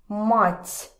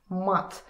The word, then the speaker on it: мать: With hard, hard, t in the end. This means actually very bad language, swearing. Mat. And mat, t, means mother. So different. That's why it's important to remember this pronunciation.